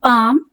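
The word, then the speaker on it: palm: silk बाम प्लम self तो आपने सुना होगा काम में एल साइलेंट है एल की साउंड नहीं आई है ऐसे ही पाम काफ चौक टॉक और पाम में भी एल साइलेंट है तो आप इन सबको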